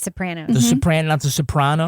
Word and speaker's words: Sopranos: Yes, it's Sopranos. It's the Sopranos. It's the Sopranos. It's like Nevada.